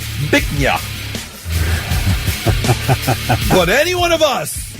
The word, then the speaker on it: Bich Nga: Now, B I C H space N G A is pronounced Bich Nga.